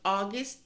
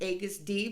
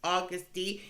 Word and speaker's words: Agust D: is and it's pronounced august thank you so much for letting me know that it wasn't aegis d was august d even though it's missing the letter u okay all right i'm